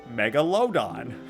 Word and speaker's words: Megalodon: That's how you pronounce it. Megalodon.